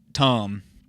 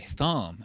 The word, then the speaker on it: Thom: New album, but Tom, which is spelled THOM. Ooh. Well, it goes with the suit. How fancy of us. Which is just, it's like, I always want to say thumb.